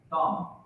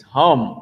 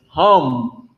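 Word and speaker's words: הם: Nope. It's hum. Oh, go ahead, Tamayum. I gave it away. It's hum. Like ham. Hum. Not ham, the Hamite, but ham that every Christian loves to eat.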